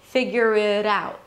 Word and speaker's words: figure it out: I pronounce it as a flap T, which sounds like a D or a very light D. Listen, figure it out.